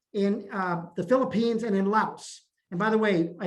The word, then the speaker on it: Laos: the philippines and in laos and by the way i learned that laos is actually pronounced lao not laos so it's those three